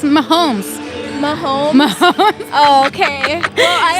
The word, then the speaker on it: Mahomes: It's Mahomes.